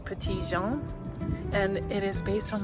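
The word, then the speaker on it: Petit Jean: I found out that uh in these parts of the world they pronounce it petty jean. Um but it is French and it's petian and it is based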